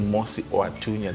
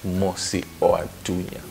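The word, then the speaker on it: Mosi-oa-Tunya: So that's why it's spelled M-U-S-I and then O and then Tunya. But the original is Mosiwatunya, the smoke that thunders. So the correct one is Mosiwatunya.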